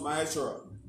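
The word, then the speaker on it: מעשר: verses 8 to 10 with means tenth in the Hebrew is pronounced my Ashura 10% of any increase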